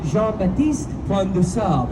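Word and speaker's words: Jean-Baptiste Point du Sable: Now, to properly pronounce his name, it would be Jean-Baptiste Point de Sable, if you're pronouncing at least slightly correct.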